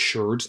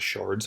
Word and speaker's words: sherds: It's pronounced Sherds, not Shards.